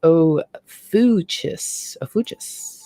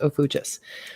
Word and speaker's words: Ophiuchus: sun sign here and it's pronounced let me go back and see it's oh fuchsis yeah it's pronounced oh fuchsis so ofutus is actually